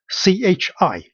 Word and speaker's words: q: The word Q in Chinese, in the Hanyu Pinyin, it's a symbol pronounced as CHI, chi, like change, like check.